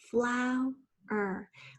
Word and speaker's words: flower: children's number five is flower remembering that's two syllables flower we hear that out at the end of that first syllable number six is cow